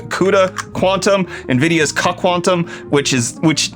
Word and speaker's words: CUDA Quantum: about nvidia and their cuck ontom what cut quantum framework i know that's not how i'm supposed to pronounce it but it's supposed to be like cuda quantum nvidia's quantum which is